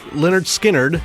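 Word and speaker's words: Lynyrd Skynyrd: But anyway, Leonard Skinnard, spelled with all Y's, is another strange name, and the story behind it is kind of funny to me.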